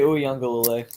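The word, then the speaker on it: Uiagalelei: Did I pronounce that right? DJ Uyunglele? Yeah, Okay. yeah, DJ Uyunglele.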